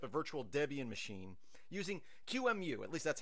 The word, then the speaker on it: QEMU: So we're going to set up a virtual Debian machine using QEMU. At least that's how I pronounce it.